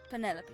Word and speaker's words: Penelope: M that is that short for Penelope officially yes but I never can be bothered with all four syllables of it Penelope sounds a little austintatious